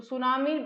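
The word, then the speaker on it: tsunami: सुनामी जो है जो सुनामी है यह जापानी भाषा का शब्द है। सुनामी ठीक है टी से इसकी स्पेलिंग स्टार्ट होती है।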